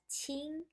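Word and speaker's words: 清: This character pronounced as qing to provide the sound. So this whole character pronounced as qing, okay? Together, this character something to do with water pronounced as qing, so the pronunciation is qing.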